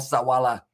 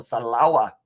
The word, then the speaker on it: Salawa: in the form of Sawala. Or Salawa, I should say. I always say that around the wrong way for the syllables.